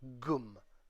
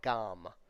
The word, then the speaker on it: gm: just a different version this is going to be pronounced GM goom goom or gum GM all right the Ibis